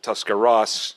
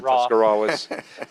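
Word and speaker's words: Tuscarawas: County by the way natives pronounce it tusar Ross as opposed to tusar uh and I know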